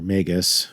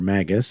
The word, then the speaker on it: Magus: Let's get back to talking about this degree five, mega or magus. I've also heard magga or magus. I've heard both pronunciations, all of those.